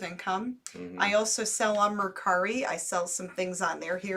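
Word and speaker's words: Mercari: our source of income i also sell on murkari i sell some things on there here and there and it or some people pronounce it mercury it's murkari um it's a selling app that you can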